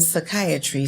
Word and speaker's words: psychiatry: some people say the silent p and psychiatry stands for pain and